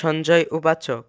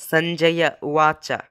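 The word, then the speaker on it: सञ्जय उवाच: তদ্রূপ বেশ কিছু শ্লোকে রয়েছে সঞ্জয় উবাচ, কিন্তু তার প্রকৃত উচ্চারণ হলো সঞ্জয়া উয়াচা, কারণ এখানে দন্তন্য ও অন্তস্থ অ এর সাথে হসন্ত যুক্ত নেই, ফলে উচ্চারণ থামানোর কোনো দরকার নেই।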